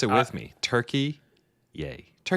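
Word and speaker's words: Türkiye: That's the way we pronounce Turkey now, just so you know, cuz it's been a while since we've been here, but they have officially sick of people comparing them to a bird, they have decided to employ the new international pronunciation of Turkey yay.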